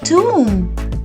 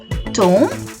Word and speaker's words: tomb: we say a restaurant another important word ending with the letter B where the B will be silent is a tomb but in this word the O will be pronounced as a u so we call it a tomb not a tone not a Tome it's a tomb a tomb is usually